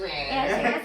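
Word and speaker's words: いらっしゃいませ: Irashaimase.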